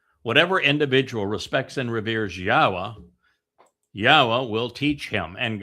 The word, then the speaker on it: Yahweh: The pronunciation of Yahwa is straightforward. It is irrefutable. The yod, the he and the wah are all um vowels. All of them.